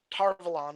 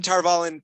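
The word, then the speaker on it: Tar Valon: tarvallen which makes sense pronounced parvaillin tarvalon is how they pronounce it and every time i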